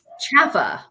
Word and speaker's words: CalHFA: Jump Right In um chaffa is how we pronounce this and it's c-a-l-f-h-a which